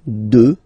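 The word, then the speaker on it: deux: 2. Final X not pronounced, okay? 2.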